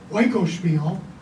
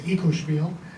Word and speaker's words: Oikospiel: But his directorial debut, and I'm going to use the ancient Greek pronunciation, Oikospiel, if it's modern Greek, it's Ikospiel.